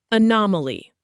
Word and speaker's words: anomaly: Anomaly, pronounced a-nom-a-ly.